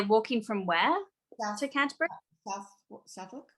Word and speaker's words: Southwark: Southwark.